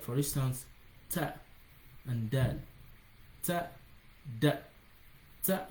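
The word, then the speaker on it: ت: Like for instance, ta and dal. Ta, da, ta. So for ta, the tip of your tongue is going to touch the front incisors, the inner part of the incisors tip.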